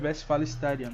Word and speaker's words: Westfalenstadion: Westfalenstadion? Exato. Eles falam Westfalen, né? Separado, Stadium, em inglês. Só que aí a pronúncia correta que vem do alemão seria Westfalenstadion.